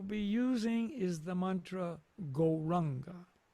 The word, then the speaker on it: Gauranga: The mantra we will be using is the mantra Gauranga. We will divide Gauranga into 4 syllables. Go, Ra, Ang, Ga.